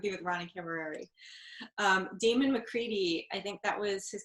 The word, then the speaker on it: MacReady: All right, Damon, GAMON, and then you said McCready. Sorry, could you repeat just the last name? Yeah, McCready. That's how it's pronounced, right?